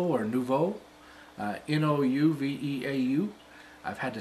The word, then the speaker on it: Nouveau: It sounds like they're spelled Nouveau or Nouveau. N-O-U-V-E-A-U. I've had to spell that word so many times that it's very easy to remember now.